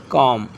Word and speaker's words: comb: अगर किसी वर्ड में बी एम के बाद आता है तो ज़्यादातर बी साइलेंट होता है। Example, BOMB बॉम्ब, LAMB लैम, नॉट लैम्ब, लैम, B silent. टम, कॉम, थम, ETC। So here B silent करना है।